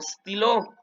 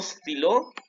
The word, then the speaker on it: stylo: Y luego tenemos aquí un stylo. Un stylo. Un stylo. Ojo, no es estilo. Quiten la E, pónganle stylo.